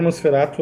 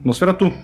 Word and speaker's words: Nosferatu: Que seria Nosferatu. A pronúncia original, se não me engano, seria essa.